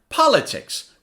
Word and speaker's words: politics: after me par latex now say it faster politics politics politics you see on the first syllable I say it louder politics now look